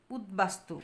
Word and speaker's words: উদ্বাস্তু: এর উচ্চারণ বজায় রয়েছে উৎ উপসর্গের সঙ্গে বফলা যুক্ত হলে ব এর উচ্চারণ বহাল থাকে উৎ উপসর্গের সাথে বফলা যুক্ত হলে তখন ব এর উচ্চারণ ব এর মত হয় যেমন উদ্বাস্তু উদবাস্তু উদবাস্তু দেখো উদ